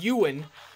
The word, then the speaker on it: Ewan: That would be Ewan, who apparently is pronounced Ewan, according to the comments of last episode. I will be the judge of that. I think it is Ewan, because I think of the actor Ewan McGregor.